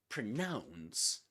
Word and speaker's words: pronounce: So pronunciation pronunciation pronunciation but pronounce has only one sy one one accented syllable nouns pronouns and pronouns rhymes with the nouns right announce yeah very